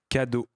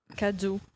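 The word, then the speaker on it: cadeaux: and X like you you don't pronounce it it's just for the plural form but but if in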